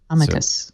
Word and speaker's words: amicus: The professor said amicus. So that's how I thought it was said. Amici. Amicus. So the C is hard, but the emphasis is on the first syllable.